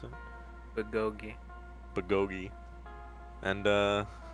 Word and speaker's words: bulgogi: You better put all the meth in this bulgogi.